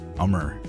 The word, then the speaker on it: Ummer: My name is pronounced like Summer, but without the S. Ummer? Ummer.